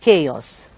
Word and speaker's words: chaos: So it is not leisure, and the letters CH are pronounced with ch sound in chores and k sound in chaos, right?